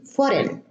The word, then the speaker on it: foreign: But you notice that the G is preceded by an I and is pronounced as an I, but except in foreign, the EI, we have E, foreign, not ein.